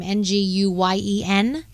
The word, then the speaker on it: Nguyen: Aerospace engineer Aisha Bowe, civil rights activist Amanda, how do you say her last name? Nguyen. I don't want to say it wrong. Yes. Yen.